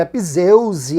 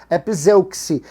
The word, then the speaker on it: epizeuxe: que está me acompanhando, epizeuxe com X, tá? Muita gente pronuncia epizeuse, epizeuxe, mas esse X aí, de acordo com o dicionário, tem som de KS, epizeuxe, e é uma repetição continuada de palavras.